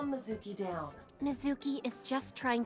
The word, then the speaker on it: Mizuki: stuff whoa go away away oh no no Sookie you said it wrong no Mizuki you really shouldn't say that throw those boys